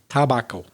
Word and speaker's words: tobacco: In English, T-O-B-A-C-C-O, tobacco, is our pronunciation of your word, of course, which is tobacco. So in English, tobacco. And related words.